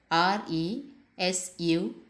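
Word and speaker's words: résumé: As a noun, it should be pronounced as resume, which means summary, and it is from French.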